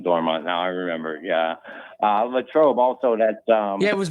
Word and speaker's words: Latrobe: He's from, I think it's pronounced Latrobe, Pittsburgh, or Latrobe, Pennsylvania. Latrobe.